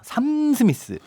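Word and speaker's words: Sam Smith: 삼 스미스. 샘이라고 읽으면 안 되죠. 삼 스미스.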